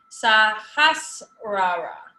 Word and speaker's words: sahasrara: con mucha Sahasra down here can you guys pronounce it with me sahasrara the sahasrara it assists with meditation concentration and